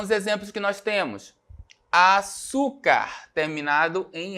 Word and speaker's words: açúcar: açúcar, terminado em R. Né? Como é que eu separo a palavra açúcar? A-su-car. Certo? Qual é a sílaba tônica? Né? O U, penúltima sílaba tônica.